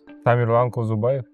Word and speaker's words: Tamirlan Kozubaev: How is pronounced? Yeah. Tamirlan Kuzubayev.